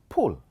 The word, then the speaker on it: pull: How do you pronounce this? This is pull, but the other one is pool.